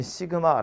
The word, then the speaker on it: 시그마: 뭐냐 하면 요렇게 쓰고요 읽을 때 시그마 라고 읽어요 시그마 케이가 1 에서